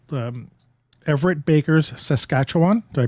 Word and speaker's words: Saskatchewan: for a photographer it's called um Everett Baker's Saskatchewan do I pronounce that correctly I hope yeah Saskatchewan Saskatchewan yeah okay there you go perfect Saskatchewan